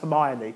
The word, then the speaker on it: Hermione: And so therefore, it's like, you know, for years I didn't even know Hermione in Harry Potter was actually pronounced Hermione.